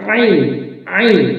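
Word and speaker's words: عين: করা রয়েছে কণ্ঠনালীর মধ্যে মধ্যখানে এখান থেকে এভাবে উচ্চারণ করতে হবে আইন আইন চাপ দিয়ে ভর দিয়ে এবং কন্ঠনারীর মধ্যভাগ হতে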